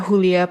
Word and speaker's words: Julia: Julia Pastrana atau dibacanya Julia Pastrana atau Yulia Pastrana, nah dia tuh lahir di pegunungan Meksiko Barat pada tahun 1834.